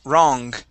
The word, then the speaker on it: wrong: Let's pronounce the G at the end of this word. The word is wrong. wrong, wrong, Okay, give me that G sound.